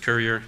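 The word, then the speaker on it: Cuerrier: it's a French word and it should be pronounced Quetta yeah but it's actually pronounced courier it's just a funny Canadian thing and that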